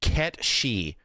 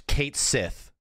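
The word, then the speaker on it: Cait Sith: Are we going to get the long-running, multi-decade argument where some crazy bastards think his name is Ket Shi? Is how you pronounce Kate Sith.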